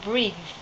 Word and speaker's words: breathe: weak Pop's number nine breathe breathe this is a verb and priests note that when you pronounce th e you need to put your tongue between your teeth like rings breathe let's